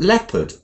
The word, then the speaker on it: leopard: Rachel a mustach 11 we say hallowed but alowed people but leopard towed but vowed so lots of words